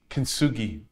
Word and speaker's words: Kintsugi: The like what you mentioned about the, how do you pronounce it? Kintsugi? Kintsugi.